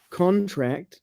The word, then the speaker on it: contract: But now you know when the stress is on the first syllable, that's a noun. And when you stress the second syllable, that's a verb.